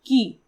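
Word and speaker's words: 木: So you can see if we remove the smaller hyphen on the bottom, then it's the symbol for tree, which is pronounced as ki.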